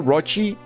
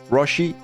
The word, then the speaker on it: Roshi: Tini would say Roshi. So not Rochi, Roshi, not Rocky.